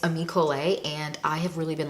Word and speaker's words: Ami Colé: It's Ami Colé, and I have really been loving these.